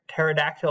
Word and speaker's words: pterodactyl: all right the word pterodactyl all starts with a PE and then a tea it is not put here and act oh it's a pterodactyl and then this P is silent so it's the same